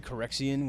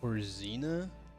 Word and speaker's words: Corina: Like I say Corxian when it's Corina.